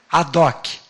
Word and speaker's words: ad hoc: Ad, adoc. A gente fala adoc, mas se escreve ad hoc.